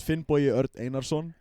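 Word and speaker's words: Finnbogi: So, uh, my my full name is Finn Boy, but can't put that on a piece of paper.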